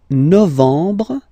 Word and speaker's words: novembre: Novembre, novembre, novembre. Okay, E-M en novembre, novembre.